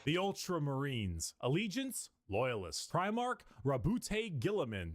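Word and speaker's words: Roboute Guilliman: Rabbout Gillaman. That's how Yeah, that's how it's said.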